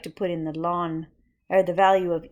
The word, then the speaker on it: ln: this natural logarithm is known as alon pronounced lawn so when you see